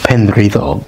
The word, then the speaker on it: Penrhyddog: Well, I don't know how they pronounce it in English. I know exactly what it would be in Welsh. Penrhyddog, the ruddy promontory or headland or the bloody sticking up of land.